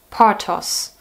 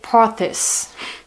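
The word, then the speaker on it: Porthos: the pattern is called i pronounce it german now partos if i would if i pronounced it english i would say porthus but it i guess it's a french word because this it is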